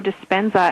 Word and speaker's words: Dispenza: Joe Despensza. Am I pronouncing your name correctly?